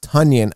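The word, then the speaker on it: Tonyan: injury report he apparently says his name is pronounced tanyan i don't care i'm going to call him tanyan anyway dalvin cook okay apparently he's good to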